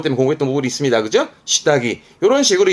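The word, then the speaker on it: 下着: 발음은 시다기. 요거 때문에 공부했던 부분이 있습니다. 그죠? 시다기.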